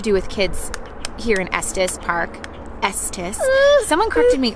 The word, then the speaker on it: Estes: There is so much to do with kids here in Estes Park.